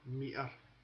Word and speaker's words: meter: in there as well, meter. So you're rolling the R, you're missing out the T.